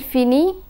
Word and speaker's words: finit: We find that je finis, tu finis, il finit, and elle finit have the same pronunciation. the final letters are not pronounced.